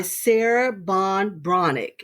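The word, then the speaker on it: Sarah Ban Breathnach: old as Kennedy okay um but it's by Sarah Bon bronic is how you pronounce her name uh and it's kind of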